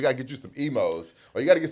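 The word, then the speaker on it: Imo's: Emos, right? But it's spelled I M O S.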